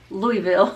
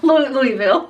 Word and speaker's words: Louisville: name that city in Kentucky how do you pronounce it see I well Louisville Louisville yeah Louisville Kentucky I was trying to say